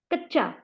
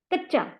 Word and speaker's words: कच्चा: रस्सी, लस्सी, बल्ला, बच्चा, पक्का, कच्चा, कच्चा, क च चा नहीं है, र स सी नहीं, रस्सी।